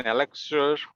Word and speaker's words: elixir: It is spelled as ELIXIR. So it is pronounced as elixir, and it is an